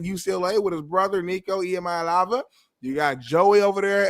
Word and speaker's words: Iamaleava: Emayalava, you're saying it right.